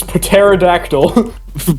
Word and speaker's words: pterodactyl: This is pterodactyl. Pterodactyl. Yes, you gotta pronounce the P.